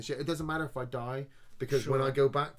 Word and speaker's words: id Software: 2016 though comes around and id Software, I'm going to say it right, id, not ID.